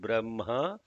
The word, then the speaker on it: Brahma: like when you write Brahma you don't write b r a m h a it has to be written as b r a h m a but it is pronounced as b-r-a-m-h-a similarly with one he